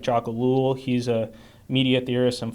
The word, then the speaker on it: Ellul: And so I highlighted some thinkers that I like to read, like Jacques Ellul. He's a media theorist and philosopher. Say the name again. Jacques Ellul.